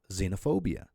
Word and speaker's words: xenophobia: Now, the word xylophone has an X at the beginning, so you pronounce it with a Z sound, xylophone. Then you have xenophobia, right?